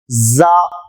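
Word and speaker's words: ز: பாருங்கள் ஜா ராக்கு அடுத்து ஜா மேல் பற்கள் கீழ் பற்கள் கடித்து ஜா ஜா ஆங்கிலத்தில் ஜெட் என்கிற எழுத்து இருக்கிறது அதுபோன்ற உச்சரிப்பு தான் ஜா ஆரம்பத்தில் வந்தால் இப்படி எழுதப்படும்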